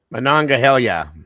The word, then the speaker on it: Monongahela: Monongahela.